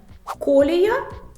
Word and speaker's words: колія: собі лайфхак від мене колія як колір фольга як Ольга Руслан